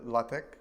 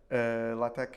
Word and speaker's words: LaTeX: Yeah, basically, right now, what we are showing, let's say, or the user is able to interact is with LaTeX, which is more or less is like some